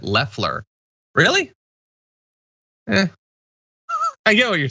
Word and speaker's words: Loeffler: Pretty sure she pronounces it Leffler.